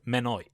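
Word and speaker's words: Mynwy: In Welsh, Monnow is pronounced Menoi.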